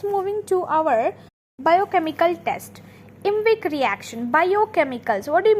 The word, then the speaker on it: IMViC: as you can see that small eye in second I which is in V after V it is nothing but we are just adding it to make it pronounce as invic reaction okay we don't have